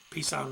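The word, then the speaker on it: Peason: uh going through uh what they called at the time the final FTX was called uh Pisson Ridge and that's spelled P E A S O N and it was uh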